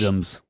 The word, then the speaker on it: besom: Besoms. What? Besom, right? Is that how you pronounce it? Yes. Besom with a B.